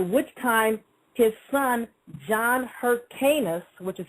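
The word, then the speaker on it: Hyrcanus: Now, Simon was murdered by his own son-in-law after which time his son John Hercanis, which is spelled H Y R C A N U S the first succeeded him and took over.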